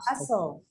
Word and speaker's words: hustle: The letter T would be something quite similar, okay? But just don't pronounce it. Let's say apostle. Also. Apostle. Castle. Christmas. Mhm. Castle. Hustle.